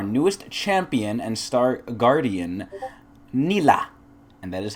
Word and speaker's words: Nilah: On this week's episode of Patch Notes, we have the premiere of our newest champion and Star Guardian, Nilah. And that is how you pronounce it. Nilah.